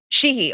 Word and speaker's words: Sheehy: Sean, tell me how you pronounce. Is it Tim Sheehy or Sheehy? Yeah, Sheehy. It's Sheehy.